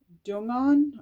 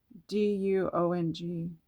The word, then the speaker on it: Duong: And this here, Astral Alignment deck by Grace Dungon. Okay, Dung. Okay, I'm pronouncing that way wrong. Duong. Duong. Okay, thank you.